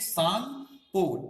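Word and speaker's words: Tsangpo: ठीक है, भारत के अलावा ऊपर चाइना वाले सेक्शन में से कहते हैं सांगपो, टी नहीं पढ़ेंगे, इसे सांग पढ़ेंगे, टी साइलेंट हो जाएगा, तो सांग हो।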